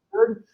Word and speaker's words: yud: There is a letter called the yud. It's a tiny little letter called the yud. Yeah. It's the smallest Hebrew letter, and it's like a Y. It's pronounced like a Y.